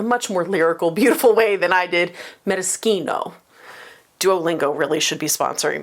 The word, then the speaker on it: maraschino: It is a maraschino, as Americans pronounce it, maraschino, as Italians pronounce it. Actually, they probably pronounce it in a much more lyrical, beautiful way than I did, maraschino.